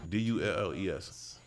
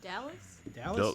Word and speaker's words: Dulles: Is it Dulles? Am I saying it right? Is it Dulles or Delays or whatever? It's pronounced Gordon. Dulles. That would be Dulles. Dulles. Okay, Washington Dulles International Airport. Dallas? Dulles. Close.